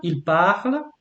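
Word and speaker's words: parlent: Tu parles, il parle, and then you go nous parlons. You don't pronounce the S. Vous parlez. You don't pronounce the Z. Il parle. You don't pronounce ENT.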